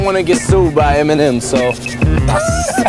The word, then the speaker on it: Eminem: He took his initials, M and M Marshall Mathers, spelled them out phonetically, Eminem.